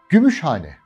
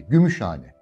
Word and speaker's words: Gümüşhane: Gümüşhane. Birleşik bir isimdir değil mi? Birleşik yer ismidir. Size anlatmıştım. Vurgu nerede? İlk sözcüğün son hecesinde. Gümüşhane. Demek ki Gümüşhane.